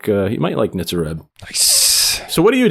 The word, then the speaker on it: Nitzer Ebb: I never know how to I think pronounce it's Nitzer Ebb.